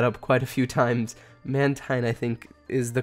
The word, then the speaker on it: Mantine: How was your trip on those Mantine? I'm going to mess that up quite a few times. Mantine, I think, is the correct way to say it.